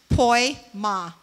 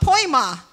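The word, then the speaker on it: poiema: And I think it's funny because it's pronounced poi ma. Like poi ma. I need poi. It's called poi ma.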